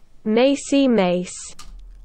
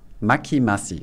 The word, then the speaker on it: Macimace: Macy Mace. Ah, das hilft. Macy Mace. Dankeschön. Danke dir, Maki Maki. Maki Massi, so spricht man es aus.